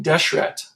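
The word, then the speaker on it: dšrt: land in ancient Egyptian red land would have been pronounced something like desh rat and if you think about the word desh rat and actually write it on paper des hret it actually looked an awful lot like desert that's where we get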